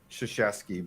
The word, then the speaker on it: Krzyzewski: It's weird because it's like an Eastern European pronunciation, so it's like a sh.